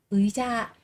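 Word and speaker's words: 의자: được đọc là y, nếu mà nó đứng trước thì sẽ đọc là ơi các bạn nhé. Ví dụ có cái từ ơi cha, ơi cha, cái ghế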